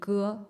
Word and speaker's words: Ge: It's pronounced like the G in garden or the G in egg. So it's in Chinese surname, it would be Ge or the Geng.